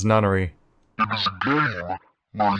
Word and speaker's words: Nonary: Oh, now he knows how to pronounce it. It's Nonary.